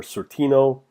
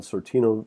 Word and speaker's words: Sortino: t z v-- school and you're looking for Sortino you can spell that by sor TI o TI + o